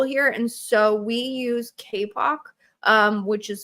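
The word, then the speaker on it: Kapoq: Um however dashboards are really useful here and so we use KPOC um which is spelled K A P O Q.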